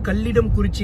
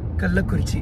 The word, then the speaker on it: கள்ளக்குறிச்சி: சில வாட்டி வந்து பார்த்தா கள்ளக்குறிச்சி அப்படின்னு சொல்லி ப்ரொனவுன்ஸ் பண்ணிடுவேன், சில வாட்டி வந்து பார்த்தா கல்லிடம் குறிச்சி அப்படின்னு சொல்லி ப்ரொனவுன்ஸ் பண்ணிடுவேன். பட் உண்மையான ஊர் பேர் என்ன வந்து பார்த்தா கள்ளக்குறிச்சி.